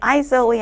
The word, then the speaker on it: aisle: 이거 S가 중간에 있지만 이거 묵음이 되는 거 다 아시죠? 그래서 aisle이 아닌 aisle 1 통로를 이야기하는 단어고요.